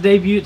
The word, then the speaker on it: debut: tea bro has t the t is silent what is going on